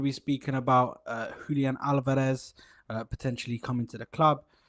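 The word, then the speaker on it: Álvarez: It's Julian Al. It's Julian Alabareth. Albar. It's T H at the end.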